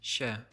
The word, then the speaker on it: się: For example, this word is normally pronounced się, and is only Się.